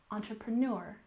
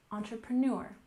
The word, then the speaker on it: entrepreneur: up we have entrepreneur we have a slight stress on the first syllable but the main stress is on the last syllable entrepreneur entrepreneur this one might be